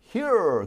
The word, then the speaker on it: here: 또 다른 차이점은 R 사운드가 미국은 버터 R 이렇게 가지만 영국은 R 사운드를 죽여요. 그러지 마. 이렇게 그러지 마. 이렇게. 그래서 예를 들어서 here 그럼 여기 그러잖아요. 근데 영국에선 here 그러지 않고 R 사운드를 죽여.